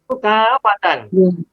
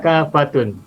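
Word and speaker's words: كافة: Dan bacanya fathatain, mansub. Jami'an tidak jami'un. Kafatan tidak kafatun.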